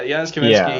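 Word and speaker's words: Janusz Kamiński: Like I really like all the cool dynamic camera movements that um is it Giannis Kaminsky? Is that how you say his name? Yeah, Jiannis Kaminsky.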